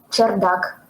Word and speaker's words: чердак: Uh, Uh, how do you pronounce this word in Russian? чердак.